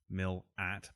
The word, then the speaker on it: Milat: All that, plus the fact that having lived through the coverage and post-mortems of the real Ivan Milat, that's pronounced Mill-at, by the way, and Falconio cases that